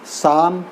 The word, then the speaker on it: psalm: of live on A poem का नाम है शाम ऑफ लाइफ पीना साइलेंट होगा शाम ऑफ लाइफ का मतलब होता